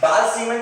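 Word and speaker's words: Balz-Schiemann: अच्छा बाल-सीमन रिएक्शन किसके लिए यूज होता है, सुनो अभी BALZSCHIEMANNS, हाँ Z का ये साइलेंट है।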